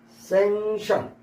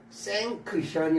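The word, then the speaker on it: sanction: 뒤질만큼 현기증나는 뒤지 현증나는 생션 c가 발음이 안 되고 생크션이 아니라 생션 허락하다 허가하다 승인하다 생션 허락하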